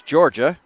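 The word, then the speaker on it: Jorja: Named after the, probably could say, Georgia University or the state in United States, Georgia, spelled J-O-R. Looking at the spelling once again, just to confirm. J-O-R-J-A, you pronounce it Georgia.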